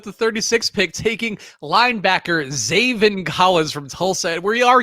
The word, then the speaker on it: Zaven: Okay, how do you spell Zaven? This was the question I had when I thought of the game. Is it spelled like Xavier? It's spelled like Raven, but with a Z.